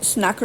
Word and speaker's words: snakker: Snakker du English?